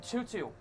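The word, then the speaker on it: Tootoo: Jordan Tutu. It is spelled T-O-O.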